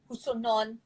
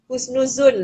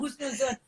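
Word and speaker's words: husnuzon: Doa baik-baik, husonon. Husonon. I don't know how to pronounce it, man. Abby, cuba sikit. Apa? It starts with H lah, the husonon. Like bersangka baik. Oh, husnuzun lah. Oh, husnuzun. Sorry.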